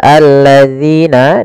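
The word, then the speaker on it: الَّذِينَ: Kemudian pelafal alladzina, di sini zi hati-hati jangan dibaca dengan zai.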